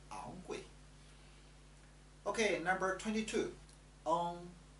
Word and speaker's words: ang: On. The pronunciation is from the back of your mouth. On. Like song.